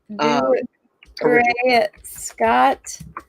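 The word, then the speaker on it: Dougray Scott: Yeah, Doug, like the name Doug and Ray and then Scott.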